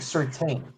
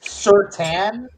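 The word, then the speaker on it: Surtain: We were calling him Patrick Certain. We didn't learn that it was Certan and you're not supposed to pronounce the I in his name until like the last two years of his career.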